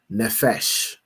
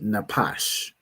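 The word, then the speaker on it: נפש: Here, pronounce the word as nefesh, because the Jewish man pronounced his pa as a fa, as an F, because he's a fool, right? But this word would be napash, right?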